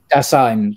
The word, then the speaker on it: Dasein: It's a design, I'm going to pronounce it properly. Design? I think it's design. Dasein, sorry, to be thrown, well, the idea, well, anyway, that's a different subject, but yeah.